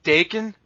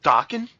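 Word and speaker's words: Daken: Like, we always say Dakin, but apparently I heard lately that it was actually supposed to be pronounced Dokken.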